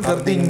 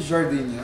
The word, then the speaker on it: Gardenia: Ah, gardenia niya. Ah, okay. Ganyan yung pronunciation dyan. Ganyan yan, ganyan yan. Ano yan eh? Jardinia. Hindi. Mali ka.